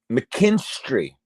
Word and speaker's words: McKinstry: Yeah, there you go. You got it. McKinstry. That's right. Yep.